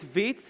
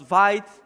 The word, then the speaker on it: Vite: honest uh cool then why you pronounce viet vit and not vite again great question i also think it was vite when i first saw the word but vit it means fast or rapid in friends and when i heard